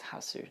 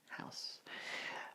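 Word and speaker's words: ハウス: is house of course it is pronounced house suit not just house I've seen this three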